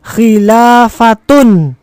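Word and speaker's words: خلافة: tepat sekali khilafatun akhirnya dibaca domatain karena di awal tidak menggunakan alif lam.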